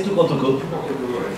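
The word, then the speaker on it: Toucan Toco: Je l'ai bien prononcé, Tukan Toko.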